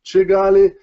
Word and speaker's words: Kigali: kick into will expel Kigali and is pronounced chee galley and if you say